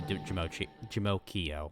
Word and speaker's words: Jamokio: It's actually Jamokio, like Pinocchio, but Jim. So, if you guys are going to bed, good night.